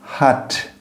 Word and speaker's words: Hat: Hat, hat. O H você vai pronunciar da mesma forma como você pronuncia Hollywood. Hat, Hollywood. E não o H do homem, certo?